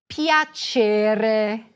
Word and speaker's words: Piacere: Piacere. And you guessed it. There is another soft C here.